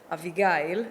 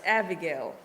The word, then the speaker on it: Avigail: raised in Israel and my parents called me AIG that's how you pronounce it in Hebrew mhm but uh more than half of my life I'm being I live here in America and my name is being pronounced Abigail interesting and uh at